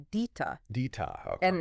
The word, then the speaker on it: DITA: It's pronounced DITA.